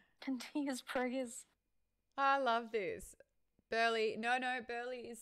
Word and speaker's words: Burleigh: Burleigh. No, no. Burleigh is spelled.